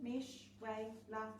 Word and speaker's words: Mishwela: So you've probably never heard of a candidate called Mishwela before. It's pronounced exactly as it's written, Mesh-Way-La MacDonald, and I'm standing for the Regional Council.